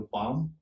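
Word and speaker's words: palm: पाम, इसमें पाम sound है नहीं, इसमें एल साइलेंट हो रहा है, आप उसे बोलते हो पाम।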